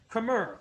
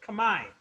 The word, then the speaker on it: Khmer: with the local cambodians khmer or as properly pronounced command and they got local